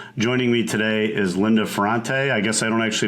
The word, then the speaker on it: Ferrante: It's Ferrante. Ferrante, okay. Yeah. It's got a little, like sort of like almost like a New York A in there, Ferrante.